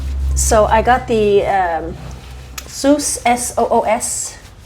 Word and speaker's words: Soos: So I got the Soos, S-O-O-S, that's how you say it, Soos, Dead Sea Spa product for pets.